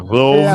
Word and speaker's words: loaves: Remember, with an F and we go plural, it's going to be V, not F anymore. So I'm going to write it down, actually, because singular, we say it like this. 1 loaf of bread. 2, 3, 4, 5 loaves. Because the plurals, like a knife, knives. A leaf, leaves. Right? Is VES for the plurals.